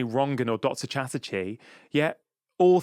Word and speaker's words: Rangan: And when they say Rangan and not Rangan, I'm like, oh, you know how to pronounce my name.